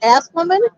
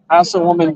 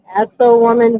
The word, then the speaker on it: Assawoman: And that water we go across is that Asswoman? Assawoman Bay. Assawoman Bay.